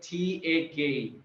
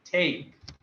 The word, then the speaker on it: take: It's Make, and same goes for Tak. Take. Hack. Not take. Yes, take.